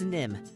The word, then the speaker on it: Nimh: Yeah, it's Nimh. There's an H on the end, but don't worry if you spell it wrong.